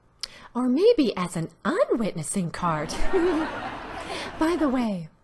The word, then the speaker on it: Asa: settle down there now King ass it's pronounced ASA whatever but I want